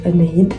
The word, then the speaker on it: Anahid: Bah moi je m'appelle Anaïde, ça s'écrit A N A H I D, il y a pas de lettre en plus, c'est tout.